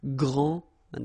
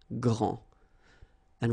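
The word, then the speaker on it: grande: final s okay so gr and then same thing here gr and regarding the feminine form you will pronounce it Grand okay don't insist on the final but then pronounce this D Grand and then exactly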